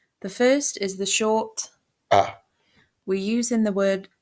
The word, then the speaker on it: آ: First, we will look at the first form pronounced ah.